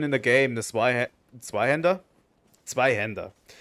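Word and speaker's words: Zweihänder: Zweihander. I'm going to use the German pronunciation, fuck you. It's a Zweihander.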